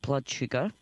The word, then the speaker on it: BLDSUGR: They're called Blood Sugar, but it's spelled BLDSUGR.